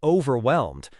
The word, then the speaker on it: overwhelmed: I'm feeling a bit overwhelmed versus I'm feeling a bit overwhelmed. Actually, put stress on the second syllable, whelmed.